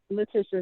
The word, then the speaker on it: Letitia: I think, how am I pronouncing your name? Letitia is correct.